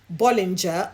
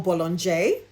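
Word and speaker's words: Bollinger: One was a traditional house, an old house, Bolinger or Bologon if I remember the uh uh proper French pronunciation correctly and the other house was Nicolola Friat.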